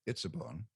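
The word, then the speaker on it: עִצָּבוֹן: Well, the first of the two nouns in word group number 2, and that's pronounced Itzabon, refers proleptically to the Itzabon of verse 17.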